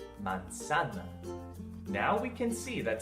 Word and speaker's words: manzana: We just need to keep in mind that the letter zeta is not pronounced as Z, but rather as an S. Put that all together and you get the word manzana.